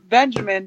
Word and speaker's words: Benjamin: growing up she would call me Benjamin it's pronounced Benjamin but the best part of it is that